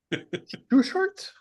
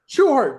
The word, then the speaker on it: Schuchart: Schuchart? Schuchart. Schuchart. Okay, so the second C is silent.